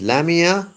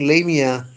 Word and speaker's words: Lamia: in john keats's lamia it can be pronounced as lamia but i think lamia is a better pronunciation it is doubtful whether